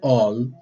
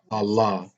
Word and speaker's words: Allah: which i call all which should be pronounced as all but the islamic world pronounces that as allah and um and this